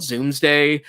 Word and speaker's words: zoomsday: my zoo meeting day i call it zoomsday um which rhymes with doomsday uh uh at at